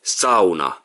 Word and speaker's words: sauna: people in Finland but it's supposed to say Sona third is from here so it's sufficient sound